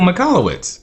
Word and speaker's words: Michalowicz: Michael Michalowicz. Yes. Yep, and I'm glad you pronounced that correctly, because I would have butchered that name.